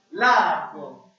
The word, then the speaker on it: largo: The first one we have is, who would like to try and pronounce that first one for me? Largo. Let's say that together. 1, 2, 3. Largo.